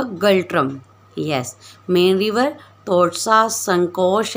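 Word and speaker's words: ngultrum: एंड the next is a Bhutan, Bhutan's capital is a Thimphu, and the important city Thimphu पैरो, एंड the currency गल्ट्रम, इसमें N silent होगा, गल्ट्रम।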